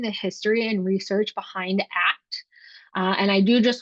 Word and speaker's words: ACT: s it sounds like act that's how you're supposed to say it I know with DBT and CBT you say the letters uh but according to